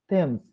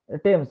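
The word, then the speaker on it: Thames: যেমন দা পোয়েট রবীন্দ্রনাথ, দা river থেমস, হ্যাঁ, টেমস, sorry উচ্চারণটা ভুল করলাম।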